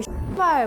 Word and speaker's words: 씨발: 그냥 뭐 씨발 뭐 이런 것도 있었고 이렇게 근데 약간 씨 이렇게 안 하고 약간 좀 영어 발음, 영어 발음처럼 음의 그 높낮이가 중요하더라고요.